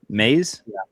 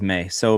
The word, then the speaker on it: Mays: Yeah, and and he um this center How you pronounce his last May? Mays? Kade Mays? I thought it was May. So, Mays, um he's actually only started like so many games, like 30-something games.